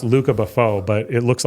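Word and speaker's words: Lucas Beaufort: artist is if it's he's French so it's pronounced Luca Buffo but it looks like Lucas Bufort so Lucas under Bufort is my favorite artist.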